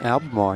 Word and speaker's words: Albemarle: They are at Albemarle. Is that how you say that? Albemarle, yep.